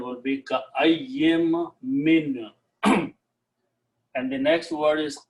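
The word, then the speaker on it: كأين من: So the full pronunciation will be ka'ayyim min.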